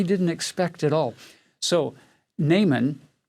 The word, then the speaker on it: Naaman: army his name is na aman we would traditionally in english we pronounce his name naaman and it means pleasant